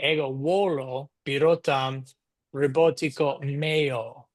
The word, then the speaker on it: meo: ego volo Birotam Robotico meo, right, for my robot. Or if I'm speaking to you, I would say robotico tuo, right? So it's male with a long O at the end.